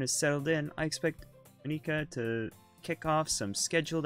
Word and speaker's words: Monika: I hear most people say it as Monika.